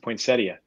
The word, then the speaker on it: poinsettia: Like poinsettia is pronounced poinsettia.